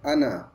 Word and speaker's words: أنا: পরে খালি আলিফ আছে, স্বাভাবিকভাবে এটা আমরা জানি মাদ হবে, কিন্তু এই শব্দটা মাদ হবে না, এটা আমরা আনা কানতে মানা জি আলিফ দিয়ে যে আনা শব্দটা লেখা হয়, এই যে আলিফ শব্দটা ব্যবহার করে ওই আনাটা টান হয় না।